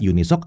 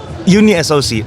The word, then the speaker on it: Unisoc: So, it's Uni SOC, not UNISOC.